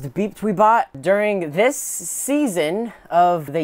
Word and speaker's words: BepTweBot: It's pronounced BepTweBot.